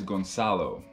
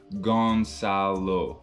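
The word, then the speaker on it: Gonçalo: thing my name is gonzalo so the way you spell it is g-o-n-c-a-l-o and on the c you're gonna add that little thingy and you're gonna read it as an s so gonzalo and my last name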